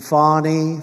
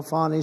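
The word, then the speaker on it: Fani: generals and fonnie fonnie you know fonnie spelled f a n i my name is fonnie f a n i i don't figure it she put a little French accent on the word with her lover Wade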